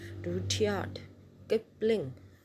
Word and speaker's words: Rudyard Kipling: इसको proper pronounce करना है आपने. RUD, root, YARD, Rudyard Kipling.